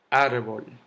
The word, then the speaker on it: árbol: Árbol termina en L, no en eso vocal. El golpe de voz está en árbol, en ar, la sílaba ar, no en la bol.